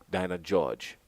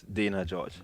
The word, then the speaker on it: Dana George: the the Davao Inn Dinah George am I pronouncing his name correctly it's Dana George Dana George yeah Dana George from the